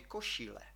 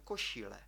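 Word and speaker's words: košile: дуже добре далі бачимо якщо стоїть гачик над літерою с то це вже буде еш у слові кошіле кошіле хочу вам наголосити на тому що звуки шиплячі і і свистячі в чеській мові м'якші ніж українські навіть м'якше ніж російськи тому кажемо кошіле кошіле Чудово отже друзі бачите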